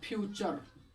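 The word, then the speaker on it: future: यहाँ पर होगा फ्यूचर, यहाँ पर हम लोग का फ्यूचर।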